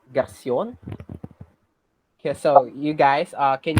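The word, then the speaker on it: garçon: Garson. Mm-hmm. So that is kind of close. So the pronunciation of that is Garcion.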